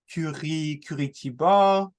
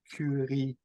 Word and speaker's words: Curitiba: But if we were to compare Blumenau to, for instance, the Curitiba, sorry for the way I pronounce that, but Curitiba, bam, we compare.